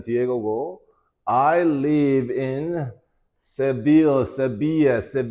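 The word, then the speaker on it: Sevilla: 난 디에고 I live in severe 이때 L이라는 말 갖다가 뭐뭐이야 이에 이렇게 발음을 하거든. 스페인 말은 그지?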